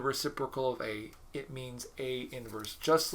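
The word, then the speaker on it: A⁻¹: said to have inverse denoted that notation is pronounced a inverse you don't write it at you don't say it as a to the negative one it does not mean the reciprocal of a it means a inverse just like if you ever had a function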